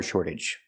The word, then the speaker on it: shortage: We see the T pronounced like a fast D because it's after an R and before a vowel. Shortage. And the AGE makes you sound idge, relaxed and closed.